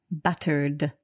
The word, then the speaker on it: battered: So buttered, we can hear there that the ed is pronounced d buttered and breaded.